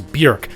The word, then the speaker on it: Björk: Also, just so we're all on the same page about this, an umlaut over the O means that you pronounce the O through the lips of a U. Her name is Björk, like beef Björky, not Björk like Björk chops.